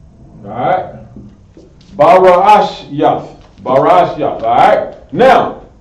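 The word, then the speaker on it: בראשית: You got another syllable another syllable to add on to that. Barash Yah.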